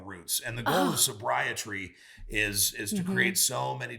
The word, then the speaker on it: SobriTree: SobriTree, like sobriety, but sobriety. Tree is tree of life. Exactly. And you have to have really strong roots. And the goal of SobriTree is to create so